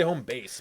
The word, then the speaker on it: HomeBass: Home base, like your home base. That's what I'm thinking. HomeBass, Yeah. but it's spelled HomeBass. Yeah. Well, I mean, yeah, but it's Like, it's base because yeah, we did this already. It's base because the Treble.